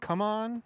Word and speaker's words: CMON: CMON, come on. CMON. CMON. I say CMON. It was they CMON. prefer- They prefer legitimately Come On.